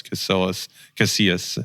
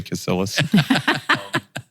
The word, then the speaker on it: Casillas: of work with us, Carlos Casillas is how you say it in Spanish. If you're white, you say Casillas.